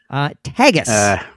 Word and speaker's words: Tagus: Now, it is, just to be clear, it is pronounced Tagus, not Tagus, not Tagus. Tagus. Tagus. Tagus. That's what I would say. And that's what we're going with.